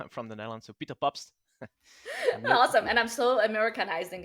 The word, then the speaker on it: Pabst: yeah sure so my name is peter i'm pronouncing it in dutch i'm from the netherlands so peter pops awesome and i'm so americanizing it peter yeah